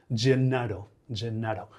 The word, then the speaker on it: Gennaro: ¿Cómo se dice Genaro en italiano, no? Gennaro.